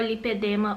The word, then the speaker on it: lipedema: Primeiro eu vou explicar pra vocês o que é o lipedema ou lipoedema, que algumas pessoas pronunciam diferente, mas é a mesma coisa, lipoedema, lipedema. Vou explicar o que é o lipedema, que é uma doença da célula de gordura.